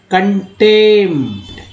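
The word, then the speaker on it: contempt: अब देखिए यहाँ पर जो है कंटेम्प्ट, कंटेम्प्ट, अब प का लोग उच्चारण कर ही बैठते हैं, यहाँ नहीं करना है, कंटेम्प्ट, कंटेम्प्ट, ना कि कंटेम्प्ट, कंटेम्प्ट, सीधा पी को साइलेंट करना है।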